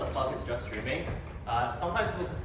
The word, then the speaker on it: JSTDRMN: got just streams oh yeah just streams it's just streaming that's how that's how you pronounce it um as a basic overview what